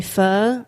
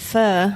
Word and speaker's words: pho: Actually, when we first opened Bonito, we started doing pho on Saturdays and also ramen. Now, wait a minute. Everybody, pronounce that again.